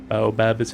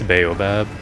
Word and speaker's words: baobab: Baobab is how I used to pronounce it as a child. It took me until I was an adult to know that I was wrong because I never heard it pronounced before I was an adult. I think it's baobab.